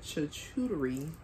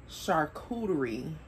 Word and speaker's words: charcuterie: um that i brought the cha-chootery chakuri i don't know what how to pronounce that i need to look it up and stop pronouncing this wrong let's see okay charcuterie okay here we still play